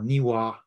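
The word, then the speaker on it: Niwot: chief left hand or nywot or niwa as it should be pronounced who lived in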